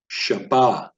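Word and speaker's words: שַׁבָּת: would be pronounced shush Shabbat so notice I'm enunciating these words predominantly on the last syllable so Hebrew is enunciated or stressed in the last syllable unless instructed otherwise so there are diacritical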